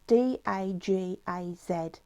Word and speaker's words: Dagaz: what I pulled out was, it's pronounced, I'll spell it, it's D-A-G-A-Z, Dagaz, okay, and it's means a new dawn, awakening and awareness, okay.